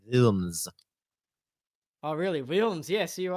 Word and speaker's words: Wilms: It was like It is a German name. It's pronounced Wilms.